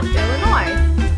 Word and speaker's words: Illinois: and hit the road yes my name is Illinois and I need one airline ticket to um well Illinois mhm no yes is silent want to ride sure hey Connecticut Taxi